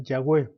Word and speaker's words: Yahweh: En el hebreo antiguo el alfabeto estaba formado solo por consonantes, de tal manera que el nombre de Dios se escribía YHWH. En general, su pronunciación era Yahweh.